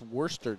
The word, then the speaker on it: Worcester: It's actually pronounced Worcester, Jake.